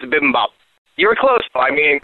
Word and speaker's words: bibimbap: give me some uh bimbab no i said that wrong how do you say it i think it's bibimbap you were close by